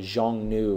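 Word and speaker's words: Xiongnu: Jong new you know the Jeong new is how it's pronounced and they were the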